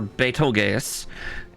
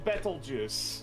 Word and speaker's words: Betelgeuse: No, you're thinking the star Betelgeuse, and people mispronouncing it to Beetlejuice. Okay, yeah, that's because that's the other reference I was talking about. Yes. Yeah. Yeah, Betelgeuse.